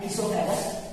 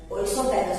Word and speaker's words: oesophagus: है, ये हमारा है इसोफेगस और फूड पाइप। इसकी स्पेलिंग OESOPHAGUS ओइसोफेगस होती है, पर इसे स्पेल इसोफेगस कहा जाता है क्योंकि वो साइलेंट होता है।